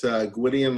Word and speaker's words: Gwydion: It's Gwydion like Gideon with a W, and the last name is pronounced, even though, as you'll see later, it's spelled kind of different.